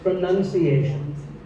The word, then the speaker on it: pronunciation: Well, we say pronounce, and pronouncing, but pronunciation. There's no noun in this word. It's pronunciation.